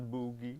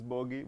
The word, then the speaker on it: Booghy: me to be on Booghy's Place, which is the highlight of my career thus far. It's Booghy. Booghy is not Booghy. It's Booghy, but I mean, I'm English.